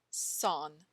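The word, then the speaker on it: 三: Says chant the number three pronounced son s a hen son in Chinese.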